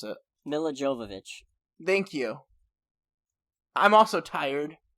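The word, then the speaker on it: Milla Jovovich: go like as much as i hate the miele djokovic movies like western dutch sorry meal of jova whatever her name is i can't pronounce it nila jovovich thank you i'm also tired okay yeah i'm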